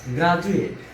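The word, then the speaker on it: graduate: আবার গ্রাজুয়েট, এখানে যে ডি বর্ণটি রয়েছে এর উচ্চারণও বাংলা বর্গীয় জয়ের মতো।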